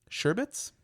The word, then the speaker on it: sherbet: Sherbets? Sherbet? It's sherbet. Sherbet. There's not a second R.